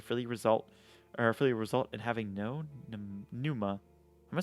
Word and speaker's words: Pneuma: Pneuma is the correct pronunciation.